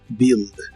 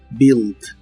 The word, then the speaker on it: build: build que significa Construir la u de esta palabra no se pronuncia solo build build y usaremos el verbo